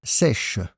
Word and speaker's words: sèche: Et une serviette sèche, l'adjectif sec a une forme un peu différente au féminin, sèche.